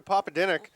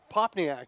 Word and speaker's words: Popadinik: He's like, no. That is not it. Popadinik. Or Popadinak.